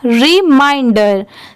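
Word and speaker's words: reminder: तो क्या हो जाएगा रिमाइंडर ठीक है अगर एम आई एन को आप मेन पढ़ेंगे तो इसकी पूरी साउंड चेंज हो जाएगी इसीलिए आप मेरे साथ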